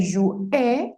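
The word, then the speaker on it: jouaient: ustedes jugaban, il, él jouait, hasta aquí, recuerda que la ENT no se pronuncia, sí se escribe, pero no la pronuncias, ellos o ellas jugaban.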